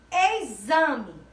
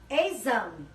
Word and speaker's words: exame: Exame. Exame. Escrita com a letrinha X e com o som de Z.